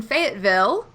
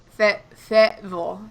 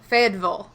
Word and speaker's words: Fayetteville: So we're in Fayetteville, but it's Fayetteville. Fayeddvil or VUL.